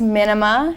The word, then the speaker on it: Minima: n i m a it's like minimalist without the word list mhm and then I